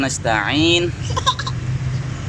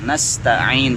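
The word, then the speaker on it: نستعين: Iyyaka na'budu wa iyyaka nasta'in. Sudah kemarin kita bahas nasta'in, jangan nas. Sinnya itu mulutnya bukannya lebar. Sa ini ya, sa. Nas. Jadi kita nas dibuka, ditarik ke samping-samping. Iyyaka na'budu wa iyyaka nasta'in.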